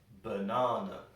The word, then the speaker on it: banana: it it sounds like banana banana we put the stress in the middle a so it sounds like